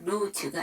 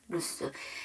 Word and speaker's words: loose: 이 루스의 S 발음은 스 발음입니다. 루즈가 아니라 루스.